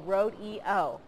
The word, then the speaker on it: Road-E-O: Students were at Ladd-Peebles Stadium this morning to take part in Mobile County's Public Schools 10th Annual Road EO.